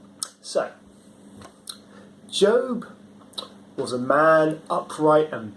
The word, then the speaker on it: Job: no no i'm telling you it's spelt j-o-b no it's not job it's job good morning